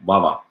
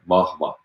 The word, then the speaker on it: vahva: And it's pronounced, some people like English speaking or others also say like vava, but it's actually pronounced in a much stronger manner as well as like vahva, vahva, like two those different separate like things.